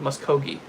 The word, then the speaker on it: Muskogee: Muskogee.